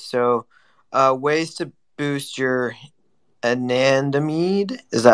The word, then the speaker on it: anandamide: So, ways to boost your anandamide.